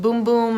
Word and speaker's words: Bum Bum: so good I know it says bum bum on it but it's pronounced boom-boom I guess it's Portuguese or something I can't open this